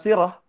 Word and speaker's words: sirah: Muslimah yang kemudian termaktub, yang kemudian tertulis dalam history, dalam salah ya, pengucapannya salah ya? Oh ya. Dalam sirah, nah itu baru benar.